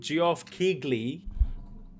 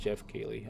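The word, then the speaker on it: Geoff Keighley: Oh man, my dude Giov Kegley. I know he's pronounced Jeff Keley.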